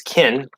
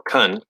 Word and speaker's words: can: Normally we can hear the stops no problem, but in the flow of fast speech, Can usually becomes kin or kun.